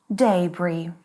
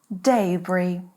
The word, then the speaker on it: debris: In British English, it is debris. Debris.